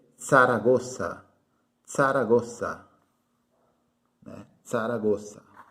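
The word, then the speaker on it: Zaragoza: é tão certa já que não existe sonido do z em espanhol então se lê saragoça sara gosta em saragoça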